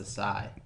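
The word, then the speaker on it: açaí: I think it's pronounced acai.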